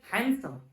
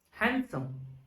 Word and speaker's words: handsome: not handsome it is handsome what handsome D is our silent later here don't pronounce this D because it is in the exception pronounce this as handsome this is a later